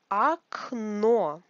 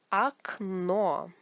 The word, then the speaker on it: Окно: Окно. Also a new word. Окно. This О is like А because it is not stressed. Окно. The stress is on the second О.